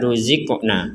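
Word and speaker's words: رُزِقْنَا: di sini ada kata ruziqna. Apa bedanya huruf zai yang sukun dengan huruf qaf yang sukun? Kalau tadi kita jelaskan huruf qaf yang sukun kita wajib bacanya mental atau dipantulkan. Ruziqna, ruziqna.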